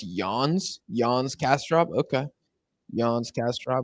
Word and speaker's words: Jens: It's pronounced Yawns.